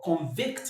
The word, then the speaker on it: convict: As a verb, the stress falls on the second syllable.